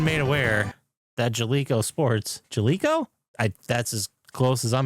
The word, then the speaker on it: Jaleco: Jaleco Sports Bases Loaded is now available on PS5, released November 20th, 2025.